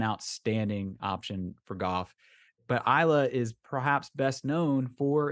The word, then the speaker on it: Islay: and visit uh Isla on paper it looks like islay and I've heard it pronounced that way but I assure you that it is Isla I stopped watching the